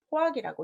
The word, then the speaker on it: 포악: 자, 포악이라고 읽는다는 거.